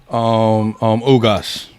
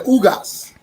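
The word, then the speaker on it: Ugás: How you pronounce his name? Ugas. Yeah, Ugas.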